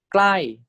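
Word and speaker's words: ใกล้: This is pronounced as klai, klai.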